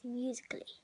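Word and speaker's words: musical.ly: the app called musical.y well that's how you spell it how you pronounce it is musically so i'll show you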